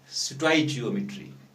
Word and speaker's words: stoichiometry: Stoichiometry. So you must pronounce the word properly.